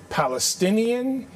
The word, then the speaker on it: Palestinian: We need Palestinian, that is how you say it, leadership at